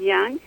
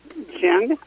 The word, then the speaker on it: Jung: And Freud and Jung refer to subconsciousness with a French word which is called inconscient.